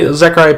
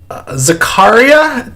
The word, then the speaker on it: Zaccaria: So I know you play Zaccaria Pinball quite a bit.